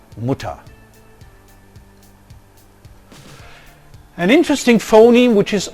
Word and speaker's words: Mutter: voiced velar fricative cutter in syllable final position the orthographical r is often realized as a low central vowel as in mutter so we don't say mutter but muta an interesting phoneme which